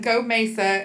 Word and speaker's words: GOMESA: So, um for everybody present, Go Mesa is um how we pronounce that acronym.